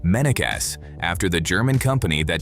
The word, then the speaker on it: Mennekes: It's also called Mennekes, pronounced Mennekes, after the German company that designed it in 2009.